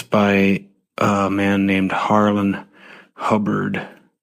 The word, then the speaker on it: Hubbard: this book it's a it's called pain Hollow it's spelled p a y NE e Hollow it's by a man named Harland hubard h u b b a r d the